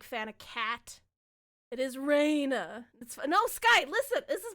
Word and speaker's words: Rena: Most people do pronounce it Rena, which is fine. I get it. It does look like an R-E, but it is Reina, like a sunshine bit of light or whatever.